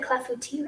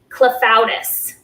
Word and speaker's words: clafoutis: I'm glad I said clafouti right.